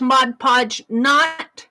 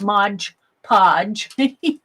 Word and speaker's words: Mod Podge: And I buy this Mod Podge, it's Mod, M-O-D. I get corrected on my pronunciation all the time because I naturally want to pronounce it wrong. It's Mod, M-O-D, Podge, P-O-D-G-E, not Modge Podge.